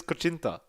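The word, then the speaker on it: kutsinta: I mean, your pronunciation is Cochinta.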